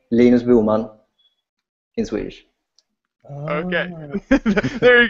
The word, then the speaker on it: Linus Bohman: By the way, the name Lena Bulman in Swedish.